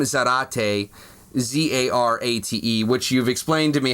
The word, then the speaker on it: Zarate: And then also on YouTube, M Zarate, Zarate, which you've explained to me how to spell your last name. Yes, you spell it like karate with a Z instead of a K.